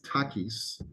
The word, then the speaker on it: Takis: If you're wondering how the name is pronounced, in Greek, it's Takis. Just like, Mexican chips.